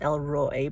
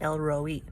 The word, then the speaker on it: El Roi: talk about today is i thought it was pronounced el roi but i think it's pronounced elroy now that it actually